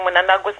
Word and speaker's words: Mnangagwa: But I believe now ZANU is at its weakest because of what they did to Mnangagwa. And what? I know people are going to hate me for pronouncing Mnangagwa's name very badly, but I'm sorry, I can't pronounce the man's name.